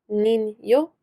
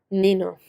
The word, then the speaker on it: niño: The ñ, or the wave above the N, tells you that you're pronouncing it as a yo sound, niño, rather than nino, which is a name.